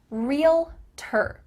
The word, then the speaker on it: realtor: is i'm a realtor real ter it sounds like just real plus t-e-r but it's not spelled